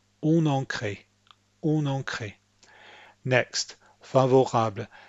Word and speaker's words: favorable: Next, favorable. Think of the syllable break as coming in front of the R.